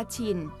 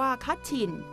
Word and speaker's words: กะฉิ่น: สุด ทาง ทิศ เหนือ เรียก กัน ว่า กะฉิ่น บ้าง ก็ ออก เสียง ว่า คะฉิ่น ปัจจุบัน กลาย เป็น พื้น